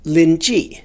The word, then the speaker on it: Línjì: Zen Master Rinji, or Rinzai as the Japanese pronounce it, has an interesting expression.